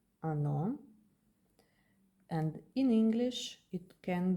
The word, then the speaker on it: оно: The O became a because this is not stressed, this is stressed, ono.